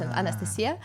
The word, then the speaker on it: Anastasia: where's the Anastasia actually my name is in Russia yeah it's pronounced Anastasia uh and it was